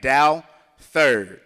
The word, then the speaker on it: Douthert: It's pronounced D-O-W, first, second, third. So that's how you say the name, Douthert, okay?